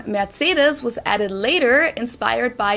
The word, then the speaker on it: Mercedes: in Germany um so most Americans call this Mercedes this is one of the two of my